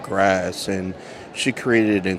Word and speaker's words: GRAS: And the sculpture is called, I think it's pronounced grass, but not like the grass like that grows from the ground. It's GRAS, which is a name after the FDA classification of untested chemical like additives.